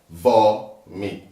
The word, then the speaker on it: vomit: So words that you stress on the first syllables are words like vomit, candle, answer, farmer, factor, gather, magic.